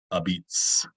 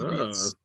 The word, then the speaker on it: apizza: but they pronounce it a beats, with a B sound instead of a P and no A sound at the end, so it's a beats.